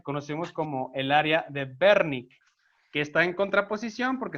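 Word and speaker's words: Wernicke: pronuncia de esta manera en alemán la doble u se pronuncia como una uve entonces es el área de berni con este desván que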